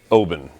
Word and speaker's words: Oban: alveus anyway he'll be we love you he pronounced it open open and he's from that sort of country